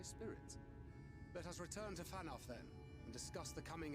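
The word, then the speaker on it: Fanow: Let us return to Fanoff then, and discuss the coming expedition. Did you say fan off? You pronounce that W with an F there, Thancred?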